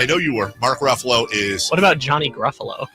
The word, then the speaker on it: Ruffalo: it comes to actors whose last name rhymes with Buffalo it's true story I was actually paying attention I know you were Mark Ruffalo is what about Johnny